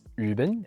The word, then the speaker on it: üben: Bringing back Dutch and German, the German U with umlauts and the Dutch long U are the exact same sounds as the French U. For example, in German you have the words üben and für, which means practice and four.